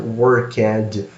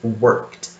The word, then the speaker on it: worked: to our Brazilian students, the pronunciation here is not worked or workage or something like that. It's worked. It's very subtle, okay?